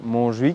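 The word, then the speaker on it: Montjuïc: el parque des monj donc attention la prononciation un peu catalan monj qui est donc le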